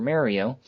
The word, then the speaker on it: Mario: For example, if you go to a convention dressed like Super Mario, it is loads of fun if you meet people there who are dressed like other Mario characters.